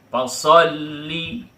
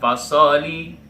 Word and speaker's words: fasolli: Fasolli enggak boleh. Fasollib enggak boleh. Tapi harus ditekan ya. Para peserta didik sekalian anak-anak kami perhatikan dengan baik. Fasolli. Nah, itu dia ya. Bukan fasholi. Nah, itu namanya tidak ada tasydidnya tapi harus tasdid di sini.